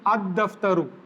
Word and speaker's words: ad-daftaru: This is a sun letter. That is the reason we are leaving the pronunciation of lam. We are directly pronouncing ad-daftaru, and here the lam is, we are pronouncing it because khaf is a moon letter. when alif lam is prefixed to the word which starts with a moon letter, al will be pronounced, and if the word starts with a sun letter, then alif lam will not be pronounced.